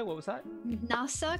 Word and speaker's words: NASA: NASA, because it's more than an S sound in English, right? Because in Hungarian, it was N-A-S-A. Oh, NASA. NASA, yeah. Because in Hungarian, it's more of a Z sound, because we don't translate it, obviously, but we say it differently, and that's why I